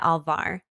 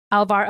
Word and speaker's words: Alvar: by, wait, Nani, do you know how to pronounce the last I think name? it's Mia Alvar. Alvar.